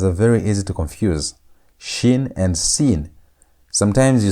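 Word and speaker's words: שין: Where you place the dot on top right is shin. The pronunciations are different. This is shin. That is sin. That had s sound. This has sh sound as in the word shout.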